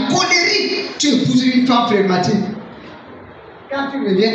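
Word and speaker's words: flegmatique: Le phlegmatique ou les phlegmatiques. Amen. Phlegmatique s'écrit F-L-E-G. Matique. M-A-T-I-Q-U-E. Phlegmatique.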